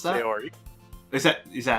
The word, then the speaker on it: Sayori: That girl is Sayori, as you pronounce that? Sayori. Is that how I pronounce it? Sayori.